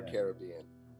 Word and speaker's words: Caribbean: time i met lee is it pronounced caribbean or caribbean let's let's do we've got parrot one for caribbean arabian caribbean there were the carob indians yeah right they're the carobs so it's for sure caribbean yeah that's what i